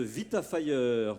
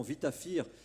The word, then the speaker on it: VitaFire: Moi, quand je vous ai appelé, j'ai dit bêtement VitaFire, sans faire le lien avec évidemment votre activité, et c'est important de le prononcer à l'américaine, à l'anglaise.